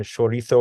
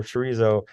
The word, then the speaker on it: chorizo: sausage called mofia and they still pronounce it with that um old world sort of accent of uh the sort of th sound so if you hear them uh talk about their sausage they'll say chorito or longanita or morphia and they will uh get on you for pronouncing it as morsia or chorizo uh if you do